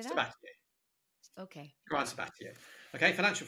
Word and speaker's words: Sabatier: Sabatier.